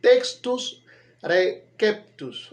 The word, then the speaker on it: textus receptus: ok, se menciona así, pero la R, nosotros en nuestra fonética española pronunciamos R al principio, cuando hay una R al principio de una palabra. Pero en este caso es latín. Y el latín en todos los casos la R suena R.